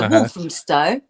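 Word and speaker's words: Walthamstow: well I'm originally from a town called wolam Stone which is in London that's where born so wolam Stow um Stow is like an old word for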